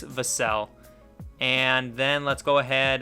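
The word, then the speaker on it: Vassell: of devon vasel saying how to say his last name and it is vasel and then let's go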